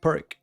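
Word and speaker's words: Pirc: I'll call it perk like we pronounce it in Spanish but there is a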